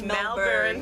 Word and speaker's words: Melbourne: It's Melbourne.